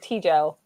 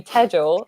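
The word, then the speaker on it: Tejal: But then one teacher said it wrong and called me Tejel, and then I'm like, oh wait, no, that's actually how you do say my name.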